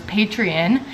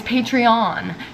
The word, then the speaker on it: Patreon: I also need to film some videos for my Patreon, which I realized I've been saying wrong this entire time. For some reason I thought it was Patreon and it's Patreon.